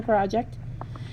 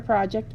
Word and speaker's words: project: He might be finding information for a project, but he is not doing a project. He is reading. Project is one of those special words that has 2 different pronunciations.